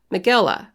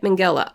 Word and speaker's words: Mengele: Mengele. That's how you say it. Mengele.